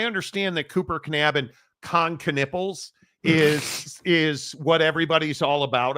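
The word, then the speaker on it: Kon Knueppel: And please say dude's name right. Con Knipple. That's how you say his name.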